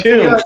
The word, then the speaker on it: Thun: So it's Tune. The guy goes, dude, you mispronounced. It's not Thun, it's Tune.